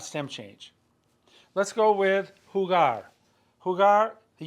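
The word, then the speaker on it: jugar: right the verb hugar that g is a hard G sound we must maintain the Integrity of the hard G sound so H do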